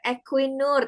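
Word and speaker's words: Equinor: Dan yang terakhir ini beliau kemudian menjadi ee member ya, member equinur. Tadi sudah diajarin ya cara bacanya ya.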